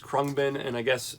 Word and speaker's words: Khruangbin: uh abound krupa because i don't think they pronounce the n or the ang part or whatever so it's